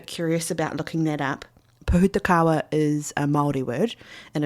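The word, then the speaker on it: pohutukawa: So if you're ever curious about looking that up, Pahutakawa is a Maldi word and it is spelled P O H U T U K A W A. Putakawa is how you pronounce it.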